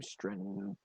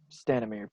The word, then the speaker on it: Stanimir: at um oh I'm gonna mispronounce his name stren stanimir stanimir thank you Lu maybe he was about those